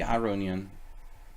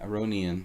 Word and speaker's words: Aronian: pronounce our Iranian different because I know it's supposed to be our own Ian but then like I'm American and there's this very deep need for me to pronounce things incorrectly you know so so I'm not thinking like I start saying Aronian you know I've it